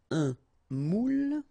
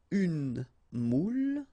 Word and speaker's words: moule: Un moule, okay, and you've got here the meaning, un moule, and the feminine form, une moule, all right? Une moule. Okay, keep in mind you pronounce them the same way, but then as you can see the meaning is different.